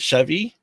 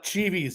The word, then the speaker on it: Cheevies: So how do you say, is it Chevy? Oh, it's Cheevies.